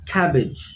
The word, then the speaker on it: cabbage: cabbage cabbage so again the stress is on the first part of the wood cabbage look at this what